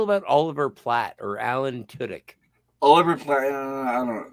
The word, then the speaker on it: Tudyk: Oliver Platt or Alan Tudyk? Oliver Platt, I don't know. I'm not a big fan of Oliver Platt. I can handle him. Don't like Alan Tudyk or however that's pronounced. Well, it's Tudyk.